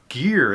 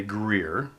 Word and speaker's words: Gear: So Gear itself, it's much easier for folks who are not Gears to want to say Greer.